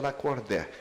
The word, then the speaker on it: Lacordaire: nome é muito bonito, escreve lacordar, ele pronuncia lacordé".